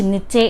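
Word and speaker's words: niche: निच नीचे इसको अलग-अलग तरीके से प्रोड्यूस प्रोनाउंस किया जाता है।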